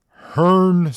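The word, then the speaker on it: Hrncir: that's a guy that's a human name it's pronounced Hearn sir it is spelled HR n c i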